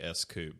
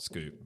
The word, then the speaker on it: S-Coupe: I think it was supposed to be S-Coupe, but everybody called it Scoop because that was exactly what it said.